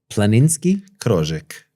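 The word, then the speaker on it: planinski krožek: Planinski Croek.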